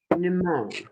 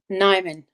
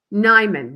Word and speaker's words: Nimone: Uh our guest today is Margot Neimon. Did I pronounce that correctly? Nimon. Nimon.